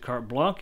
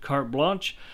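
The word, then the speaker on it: carte blanche: is K blanch uh some people can pronounce it cart Blanc and that's fine too but cart blanch uh refers to it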